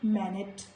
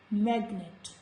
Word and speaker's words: magnet: So letter G will be sounded here. We will not say manet. It is magnet.